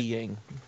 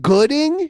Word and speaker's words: Goodying: Okay, so that's how they say it, Gooding? It's not Goodying? Because they spell it... Gooding. They spell it Goodying.